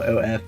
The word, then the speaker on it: OF: I have an uncle, we call Uncle OF, pronounced Uncle of, and we all know the OF is short for old fart.